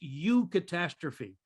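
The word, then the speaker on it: eucatastrophe: so what what tolkien the word he uses is you catastrophe e it's spelled eu and then catastrophe and what he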